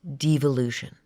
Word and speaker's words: devolution: What happens after anarchy is an actual government plan called devolution. Devolution pronounced two different ways depending on who's saying it. evolution with a D in front of it.